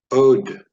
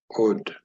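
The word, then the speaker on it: עוד: ODE This word means a number of things in Biblical Hebrew. It can mean "Still, yet, once, or again." ODE ah-LOTE, ah-LOTE.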